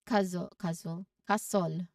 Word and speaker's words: castle: Next is castle. Again, castle. So, silent letter T.